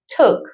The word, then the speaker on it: took: Doble o tok se pronuncia. Took.